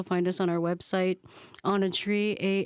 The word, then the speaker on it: Åna Tri: just released our debut album on a tree a n a t r i that's us and our album name is on a tree like you're on a tree you know like sitting